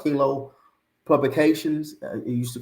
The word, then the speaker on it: KVNG: So it's King Lego Publications, and King is spelled KVNG.